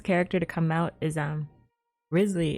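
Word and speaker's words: Wriothesley: The next character to come out is, Risley is how you, I think, pronounce his name. Even though it looks like real Thessley, but he's the actual Riz.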